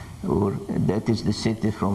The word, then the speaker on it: Ur: on on ancient Mesopotamia you may hear them pronouncing the word air but the correct one is ur ur that is the city from which Abraham came